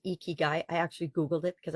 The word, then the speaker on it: ikigai: necessarily need them there's a Japanese process called eeky guy eeky guy i k i g a i and it's pronounced eeky guy I actually Googled it because I wasn't sure